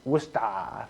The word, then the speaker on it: Worcester: from so worcester polytechnic institute pronounced woosta ever been to boston they have a very strong accent Massachusetts that's what's that